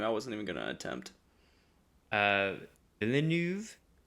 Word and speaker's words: Villeneuve: How do you pronounce his last name? I wasn't even gonna attempt. Villeneuve. Denis Villeneuve.